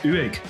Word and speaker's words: Uig: Two, you need Strathlide Regional Council or something like that back and it's pronounced UIG.